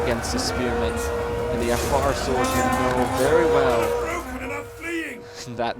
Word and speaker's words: Afar: And I can say Affis because they are, no wait, Afar. Afar. Forgive me. I mispronunciated it.